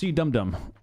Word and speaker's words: CDOME: It's pronounced Cdome.